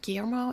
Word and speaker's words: Guillermo: Guillermo, is that how you say Guillermo del Toro?